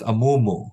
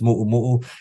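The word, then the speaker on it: muʻumuʻu: in restaurants um mu muu or as it's mispronounced amumu you know a dress of sorts it's pronounced muu and it's actually a beautiful gown or dress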